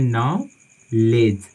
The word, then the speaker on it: knowledge: ठीक है, तो इस वर्ड में हमारा के भी साइलेंट है, डी भी साइलेंट है, तो हम इसको पढ़ते हैं नॉलेज, नॉलेज। ठीक है, नॉलेज का मतलब ज्ञान होता है।